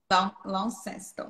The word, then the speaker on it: Launceston: Eu já fui e eu não consigo pronunciar. Eu acho que é Launceston. Mais, né? Ela trabalha no, né? Fala aí, Jéssica. Eu acho que eles falam Launceston. Launceston.